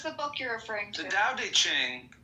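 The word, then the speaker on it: Tao Te Ching: book you're referring to da de Ching pronounced more or less da de Ching can be translated as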